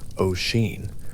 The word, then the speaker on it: Oisín: Its two syllables running together in the mouth. Oeen, the first syllable open and round, the second falling away almost before it arrives.